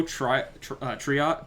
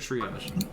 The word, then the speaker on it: triage: if you don't know triat i keep saying it wrong steve which one was it try out your triage triage triage um you can get